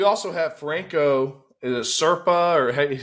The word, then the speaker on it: Serpa: Is it Serpa, or how you say that? Yeah, that's how you say it, Franco Serpa.